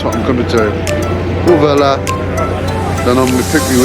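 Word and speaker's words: Huelva: So I'm headed to Uvela tomorrow. It's got an H in front but they don't pronounce it. So I'm going to Uvela, and from then onwards to Lisbon, pick me way to Lisbon.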